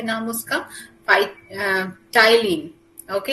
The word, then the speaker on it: ptyalin: Saliva contain a starch splitting enzyme, जो कि क्या है नाम उसका, टाइलिन। ओके इसका प्रोनाउंसिएशन टी से होता है बट it starts from P, सो PTYALIN, ये आपका नोट्स में है।